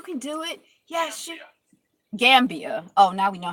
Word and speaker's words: Gambia: Gambia, like Pambia.